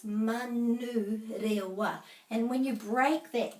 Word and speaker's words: Manurewa: And they say Manuriwa, but it's Manurewa.